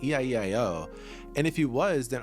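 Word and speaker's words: 이: It's spelled this way because in Korean the number two is pronounced e.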